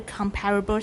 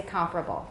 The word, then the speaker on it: comparable: Find a comparable set of words with bilabial sound at the end. Good. All right. I don't say comparable. Many people do. It's okay, but I say comparable.